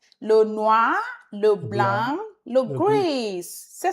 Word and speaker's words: le noir: Le noir. Le noir. O-I is sound.